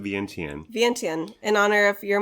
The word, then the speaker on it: Vientiane: We're talking about Vientiane, but we pronounce it Vientiane.